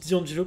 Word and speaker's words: D'Angelo: Alors, oui, je dis D'Angelo parce que c'est comme ça que ça doit se prononcer en français, en fait. Tout simplement pourquoi? Parce que ça vient de l'italien, D-I, Angelo, en fait.